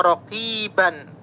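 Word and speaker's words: رقيبا: Ini banyak kita lihat contohnya raqiban. Innallaha kana alaikum raqiban. Berhenti. Tulisannya raqiban. Kemudian baris fathatain dua di atas sesudahnya alif. Nih, fathatain sesudahnya alif. Kemudian cara membacanya menjadi fathah. Maka raqiba.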